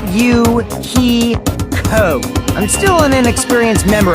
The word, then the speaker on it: Fuyuhiko: My first name is pronounced U-He-Ko.